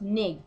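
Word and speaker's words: Netjer: The N-word was spelled N-E-T-J-E-R, pronounced nig, which meant God.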